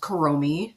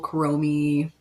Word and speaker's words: Kuromi: Okay, and then I believe it's pronounced Kuromi.